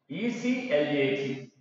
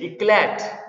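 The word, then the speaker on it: éclat: ECLAT. This is pronounced as ECLA.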